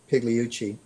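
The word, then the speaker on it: Pigliucci: is massimo hiluci and that's pronounced p-i-g-l-i-u-c-c-i pigleyuchi and he has a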